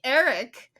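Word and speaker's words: Airk: Eric. That hurts our brains. You want to spell it, Kaitlynn? How do you spell Eric? A-I-R-K. So basically we're building an ark with an I.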